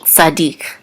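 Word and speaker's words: צדיק: and the accent mark so we know that the accent is on the last syllable so Noah ish Sadiq and Sadiq means righteous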